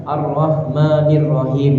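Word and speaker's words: الرحمن الرحيم: Dan di sini juga kita hati-hati juga karena ada arrahmanirrahim. Jadi H-nya ini H besar Bu. Ini H-nya kecil. Arrahmanirrahim.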